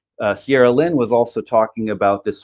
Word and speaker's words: Cyrelin: Cyrelin. Cyrelin.